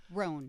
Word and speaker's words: Rowan: think it's technically Roan. Roan. Yeah. But I tend to yeah, want yeah. to say Roan. Rowan.